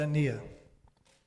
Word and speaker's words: Quintanilla: So I just want to point out that Trustee Quintanilla, that's how you pronounce his name in my best approximation of Spanish. Okay, but it's Quintanilla. Thank you. Quintanilla.